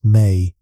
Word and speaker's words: me: The mi pronounced may.